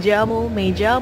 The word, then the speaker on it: llamo: Dibacanya tuh double L itu kayak Y. Tapi kalau di Amerika Latin dibacanya tuh kayak J. Jadi